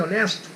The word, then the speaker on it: honest: An honest man, um homem honesto. A palavra honest, esse H é mudo, tá?